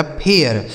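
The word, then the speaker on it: fair: अब इसे क्या हम फेर पढ़ेंगे, नहीं, क्यों, इसी आर की वजह से इसका उच्चारण बदलेगा।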